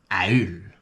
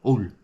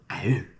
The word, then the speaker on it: haul: Mais c'était assez clair que ça se prononce Aul. Pas Oul. Aul.